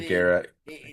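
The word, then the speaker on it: Megaera: The Megara. It is Megara.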